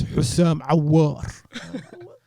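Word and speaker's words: Houssem Aouar: I spoke to an Algerian guy who did not like how I pronounced his name. And he goes, no, my friend. He's Hussam Aouar.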